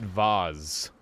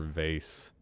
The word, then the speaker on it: vase: us eccentric base or is it Vaz what do you say Chad Vaz or vase I guess you how